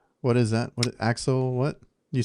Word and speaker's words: axolotl: What is axolotl? What? You said it right now. Axolotl.